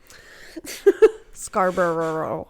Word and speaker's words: Scarborough: episode if you will scarborough there's too many syllables you just gotta not say all the syllables just like worcestershire it's like wings like yeah forget about some of the syllables it's fine i appreciate